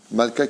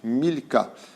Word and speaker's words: Malka: au nom de malka malka qui veut dire en hébreu rennes mais qui se prononce aussi milka qui s'écrit exactement de la même façon c'est pour cela que